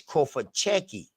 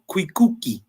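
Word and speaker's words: Cofitachequi: So this right here, so the ITA ain't even pronounced.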